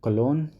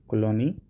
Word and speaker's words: Cologny: World Economic Forum is headquartered at Cologne. It's actually pronounced as Cologne, Colony, COLOGNY, but in French it is pronounced as Colony.